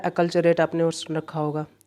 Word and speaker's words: acculturate: एक और सिनोनिम इसका होता है अकल्चरेट, आपने और सुन रखा होगा, अकल्चरेट, है ना, मैं बता देता हूँ, अकल, याद रखिएगा, पूछा गया है।